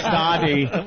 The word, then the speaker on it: Sade: The Sade. You pronounce the E. Yeah. It's the Sade.